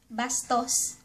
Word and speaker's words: bastos: Rude ----- Bastos.